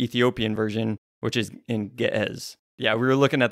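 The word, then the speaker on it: Ge'ez: because if you look up online how to pronounce GE e and it's gez but yeah gz that's that's the Ethiopian really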